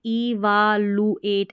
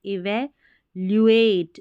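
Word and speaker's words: evaluate: अब इसको देखिए पढ़ेंगे इवालुएट, ऐसे नहीं पढ़ना है, इसके उच्चारण देखिए इवैल्यूएट, ल्यू करके पढ़ना है एल यू को, तभी सही उच्चारण निकलेगा इसका।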